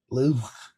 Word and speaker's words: Louvre: You gotta say it with you gotta roll your R with the back of your tongue. Louvre.